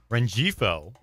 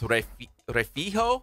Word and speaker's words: Rengifo: I think, and it doesn't make sense, but I think it's Refijo because I think that G is pronounced like a J, which is pronounced like a H.